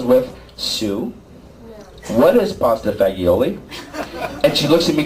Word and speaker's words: fagioli: you're telling you can't answer the skills ready f-a-g-i-o-l-i everybody f-a-g-i-o-l-i let's try it again but just